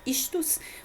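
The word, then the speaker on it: ἰχθύς: Daí que a palavra do peixe, ela é pronunciada istus, compõe as iniciais da seguinte frase: Jesus Cristo, de Deus, Filho, Salvador, tá?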